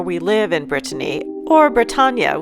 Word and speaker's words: Bretagne: The donkey marks where we live in Brittany, or Bretagne, which is sort of pronounced like lasagna.